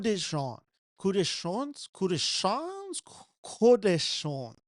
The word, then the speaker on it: Coup de Chance: Coup de Chance, I believe is the pronunciation.